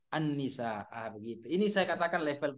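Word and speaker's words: النساء: bahasa lisan Jadi bahasa tulisnya yang benar Al tapi dibaca Anni Annisa begitu ini saya katakan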